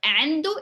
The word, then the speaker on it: عنده: So عنده is he has.